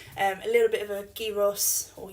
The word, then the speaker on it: gyros: So we're going to be cooking basically flatbread, chicken, a little bit of a gyros, or gyros as it's actually pronounced.